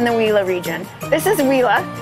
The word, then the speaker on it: Huila: wheela region this is whea a lot of people have a hard time pronouncing it and we've actually heard some Colombians say it a little bit differently but it is whea this is our second